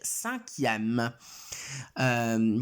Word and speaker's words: cinquième: Allora, col 5 bisogna aggiungere una U, ok? Prendo una U, o meglio U, vabbè, comunque, prendo una U perché altrimenti non riuscirei a scriverlo e a pronunciarlo bene. Quindi quinto si dice cinquième.